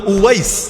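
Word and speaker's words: أويس: ওই বাংলায় হয়তো ওয়াইজ কুরুনি বলেন আর কি আপনারা, এটা ভুল উচ্চারণ। ওয়াইজ কুরুনি নামে কেউ নাই। ওয়াইজ মানে তো বক্তা, ওয়াইজ মানে বক্তা। এখন ওনার নাম কি বক্তা ছিল নাকি? বক্তা কারো নাম হয় না, ওনার নাম হলো উওয়াইস, উওয়াইস আল কারানি।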